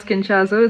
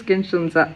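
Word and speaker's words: SKIN1004: It's actually not Skinchazo, it's Skinshunza. I forgot the pronunciation.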